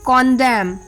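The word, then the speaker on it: condemn: silent letter N एंड the rule is एन is often silent when following M एट द एंड ऑफ a word last में जब एम आता है तब N silent होता है जैसे ऑटम एच वाई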